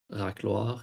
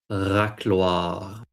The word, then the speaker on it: racloir: Racloir, yeah. Can I teach you how to pronounce? Probably not. You have to roll your R to make it sound perfect. Racloir.